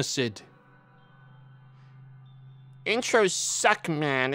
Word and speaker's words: Lunacid: ] lung acid luna we're gonna pronounce it luna lunacid intros suck man it's